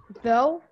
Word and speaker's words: though: And when it comes silent, like though.